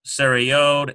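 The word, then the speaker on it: צירה: For example, this one here, T-S-E-R-E, saray. And it sounds, you get this A-Y sound in there, which is what that sounds like.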